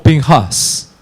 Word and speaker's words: Pinjas: hoy día en israel se pronuncia como pinchas y es así como